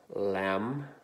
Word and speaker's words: lamb: sound ah line two we have silent B so we have lamb crumb and limb line through your first